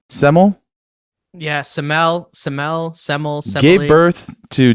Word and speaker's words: Semele: Semele?